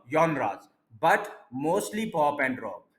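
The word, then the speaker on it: genres: इसको वाई के साथ बोलते हैं, जॉनराज। ये कोई फ्रेंच वर्ड है तो इंग्लिश की तरह से नहीं इसको पढ़ सकते।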